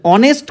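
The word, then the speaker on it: honest: দেখো, অনেস্ট কথার আগে আমরা এ কেন দেবো? কনসোন্যান্টের উচ্চারণ যদি ভাওয়েলের মতো হয়, VOWEL, তাই তো, তাহলে কনসোন্যান্ট, এইচ কনসোন্যান্ট, কনসোন্যান্টের উচ্চারণ কিসের মতো হচ্ছে?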